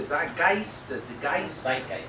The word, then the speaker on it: Zeitgeist: Now, I went to Wikipedia and downloaded this word of the, how do you say it, Bob? The zeitgeist? Zeitgeist.